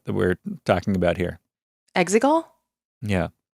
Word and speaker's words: Exegol: Exegol? Yeah. It's not quite as distinct as Han Han or anything like that, but there's Exegol or Exegol. Like Exegol, and they say it differently within the movie, which is, again, one